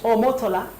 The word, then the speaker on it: Omotola: omotola holiday a connecting us how the Nigerians pronounce it omotola holiday akinetic let's take a look at our